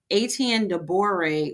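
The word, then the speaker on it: Étienne de Boré: I didn't want to pronounce his name on so I was like let me go look. Aten Doré was the first mayor of New Orleans.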